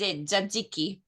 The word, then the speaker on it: Tzatziki: Tzatziki.